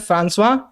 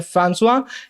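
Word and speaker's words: François: एक French man थे इनका प्रोनाउंसिएशन सही प्रोनाउंसिएशन है फ्रांसवा बाकी आप चाहे चाहे तो फ्रेंकइज़ बुलाएं चाहे तो आप गड़गोबा जो आपका मन हो वो बुलाएं लेकिन इनका प्रोनाउंसिएशन है फ्रांसुआ ये फ्रेंच मैन थे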